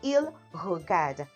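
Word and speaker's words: regardent: The ENT is silent. Il regarde.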